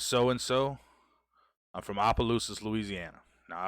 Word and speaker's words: Opelousas: and so I'm from Opelousas Louisiana now Opelousas is quite a ways away from us said I'm gonna be totally honest with you you always hated trying to pronounce it yes Appaloosas it's not I mean I guess